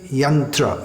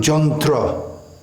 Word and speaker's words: Yantra: from the from Sanskrit in Sanskrit Yantra young from Bengali John through the year becomes Jo and the herb becomes all actually there should be a